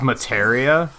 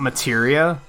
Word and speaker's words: Materia: huh I am materia it's pronounced materia not materia well we learned a